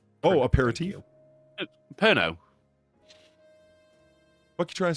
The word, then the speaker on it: Pernod: It's Pernod. not apert. Oh, Thank aperitif? you. Pernod.